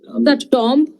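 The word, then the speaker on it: tomb: যায় ব্রি কান্টাব্রি টম একটা শব্দ সুন্দর শব্দ টিও এমবি এখানে এখানে বিটা হচ্ছে সাইলেন্ট এটা উচ্চারণ হচ্ছে উচ্চারণ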